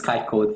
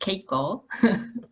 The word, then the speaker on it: Keiko: cloud and IOT miss KY code the floors yours thank you for interaction actually my name is it's pronounced Keiko can you hear me